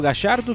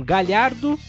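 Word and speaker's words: Gallardo: Ferri que fala do Marcelo Gachardo, que na Argentina se pronuncia dessa forma. Já temos outros países que pronunciam Galhardo, como se tivesse LH, né? É, exatamente. Ou Gajardo, né, também, né? Como se fosse um J ali no lugar.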